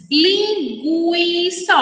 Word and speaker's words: linguiça: Bom dia amarelo com já letra u é pronunciada quando nós falamos linguiça os Alisson do o linguiça linguiça ue que mais Quais são